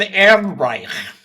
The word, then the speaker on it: Ehrenreich: Just say very simple, Ehrenreich.